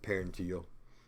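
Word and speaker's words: parietal: And I said parental, I meant parenteal. It's easy to move that in, up, or just a few letters and mispronounce.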